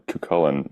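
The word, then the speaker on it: Cú Chulainn: Cuchulain, or how it's more often pronounced over yonder in Ireland, or Cuchulain, means the Hound of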